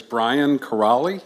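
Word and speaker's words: Brian Kiraly: good evening good evening my name is Brian carali it's spelled k i r a l y I have a loud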